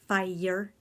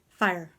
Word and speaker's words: fire: you can have to pretend that fire is one syllable not fie year fire fire ok fire fire